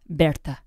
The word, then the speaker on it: Bertha: Bertha. Bertha? Bertha. Or if you want to go with the German pronunciation, Bertha.